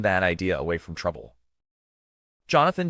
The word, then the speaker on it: Jonathan: Jonathan J. Gilbert, pronounced John Aun Gilbert, was born on April 28th, 1967 in Los Angeles, California.